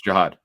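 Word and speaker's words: Jihaad: If you go to their Instagram, Sky Motorcars, and like the photo of Jihad Campbell, did I pronounce Jihad Campbell or Jiad? Jiad. No, it's Jiad.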